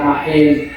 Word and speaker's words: Makhin: Anu Neng, saya namanya Makin. Kan tulisan, ya tulisan kan MAKHIN, tapi dibacanya nggak begitu.